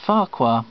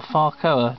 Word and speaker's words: Farkoa: Lady madcap sung by Mr Morris Fara or farco depending on how one pronounces it on a gramophone concert